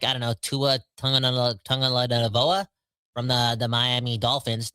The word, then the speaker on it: Tua Tagovailoa: comes to a guy like, I don't know, Tua Tagovailoa from the Miami Dolphins. How do you say his name? Tua Tagovailoa.